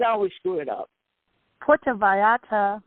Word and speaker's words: Puerto Vallarta: Puerto Vallarta, Mexico. See? Did you hear the Spanish come out of her?